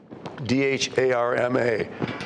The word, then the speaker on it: dharma: up here for you it rhymes with karma and it makes it easy to remember that's the word dharma d-h-a-r-m-a dharma refers to duty